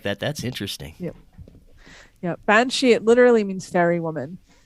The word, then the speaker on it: banshee: have here in your talking points is the bean side. Did I pronounce that right? Oh, Banshee.